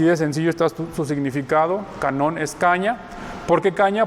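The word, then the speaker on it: κανών: El canon o canon es una palabra que viene del griego canón, ¿sí? Como está escrita aquí, se fijan, se escribe igual, nada más que con K en lugar de con C. En español es con C, en griego es con K, es canón, que significa caña.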